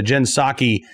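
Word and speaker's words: Psaki: jin pasar jin saki i always want to pronounce the p in her name but uh jen saki uh was asked you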